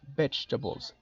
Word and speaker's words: vegetables: Then the next category that we have is vegetables. Esta palabra a veces les da mucho trabajo pronunciarla porque se escribe bastante diferente, se escribe vegetables, pero ojo con la pronunciación. Vegetables.